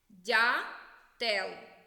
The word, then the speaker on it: дятел: схеми до цих малюнків вимовляємо слово по складах дятел перший склад наголошений сова другий склад наголошений